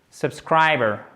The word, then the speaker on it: subscriber: Subscriber. Vous voyez, c'est même pas subscriber parce que si vous faites bien l'accentuation ici, vous n'allez pas le prononcer le R. Et c'est le cas, il n'est pas prononcé.